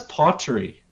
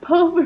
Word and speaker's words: potpourri: It's like P-O-T, like pot, and then P-O-U-R-I. No, that's pottery. What? Oh man. It's pronounced potpourri.